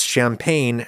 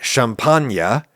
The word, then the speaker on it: champagne: You don't expect me to pronounce champagne "shampanya", even though that's how people in said wine region of Northeastern France actually pronounce it.